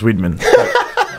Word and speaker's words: Weidman: like pissed off when people call me Weidman and try to correct them. No. Then I found out recently that my name actually it's supposed to be pronounced Weidman. Because they changed the name a bunch of times, and originally it was like W-I-E-D and 2 N's at the end, and then they changed